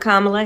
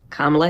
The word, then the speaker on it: Kamala: I'm Kamala Harris, and this is the Wired autocomplete interview.